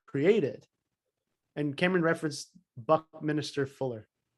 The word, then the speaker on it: Buckminster: And Cameron referenced Buckminster Fuller. Buck Fuller Minister. No, you said it right the first time. Buckminster. Buckminster Fuller.